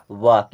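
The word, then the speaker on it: walk: डब्लू ए एल के इसे क्या पढ़ेंगे वाक यहां पर एल साइलेंट होता है इसे पढ़ा जाता है वाक वाक भी होता है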